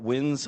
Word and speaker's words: Wynns: A lot of people leave off the S and just say win. So you nailed it.